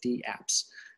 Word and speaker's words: DApps: We have this notion of decentralized applications, or DApps. So you do pronounce the D. It's similar to the word email.